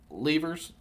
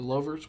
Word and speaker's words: louvers: points because they were misusing the levers or the louvers. What are they called? Mm-hmm. Overs. Louvers. That's how you say it.